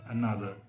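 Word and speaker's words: another: एन ओटी एच आर अनदर तो जो शुरू का ए है वो बिल्कुल शॉर्ट हो गया अनदर अ बोला ही नहीं जा रहा स्पेलिंग में लिखा जाएगा लेकिन जब हम उस वर्ड को प्रोनाउंस करेंगे तो वो बिल्कुल वीक हो जाता है तो ये बिल्कुल एक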